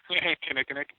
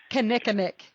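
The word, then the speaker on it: kinnikinnick: me to do the audio for that berry Kemetic Kinnickinnic yes I'm gonna have to listen to you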